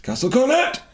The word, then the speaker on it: Castle Cornet: Oh, how do you pronounce it, old man? Then what does he say? Castle Cornet. It's Castle Cornet.